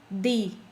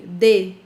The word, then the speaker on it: de: in English or in your native language okay got it very good example to Elizabeth when I say in English I go to school I don't need a definite article